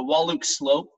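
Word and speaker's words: Wahluke Slope: hear familiar with it the wallach slope the e is silent on the end of it this is where sarong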